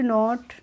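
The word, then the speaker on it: know: पहले भी बताया था जब कैन के बाद एन आती है तो उसमें एन साइलेंट रहती है तो इसको हम पढ़ते हैं नो ना कि क्नो उसमें सॉरी फ्रेंड्स एन साइलेंट नहीं रहती है उसमें के के साइलेंट रहती है तो हम इसको पढ़ते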